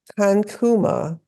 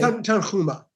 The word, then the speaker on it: Tanhuma: Rabbi Kankuma began, God brings everything to pass precisely at its time. How do you say his name, Rabbi? Tanhuma. Kankuma said, the world was created at its time.